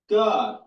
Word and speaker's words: Gad: God, the same way it's pronounced in Enoch with that little vowel point above the A.